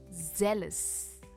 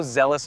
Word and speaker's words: zealous: It's a two-syllable word and it's pronounced as zealous, zealous.